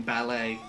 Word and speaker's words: ballet: Just like the T is silent in ballet.